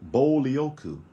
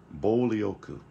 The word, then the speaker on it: 暴力: pronounced by itself but together this is pronounced bolyoku bolioku and it's written out